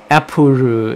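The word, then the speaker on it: アップル: like that but after is apuru is how you are supposed to pronounce apple and Cakey cakey cake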